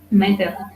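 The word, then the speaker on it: μήτηρ: Fíjense que en griego ático, ¿cómo se dice madre en griego jónico ático? Meter, ¿no? Meter, bien, nos confundimos por ahí por el latín, pero en griego madre se dice meter.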